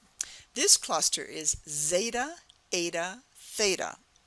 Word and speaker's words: Theta: It all has the A sound at the end, but it's starting with first like the Z sound, zeta, then comes eta, which is acting like a vowel, eta, and theta.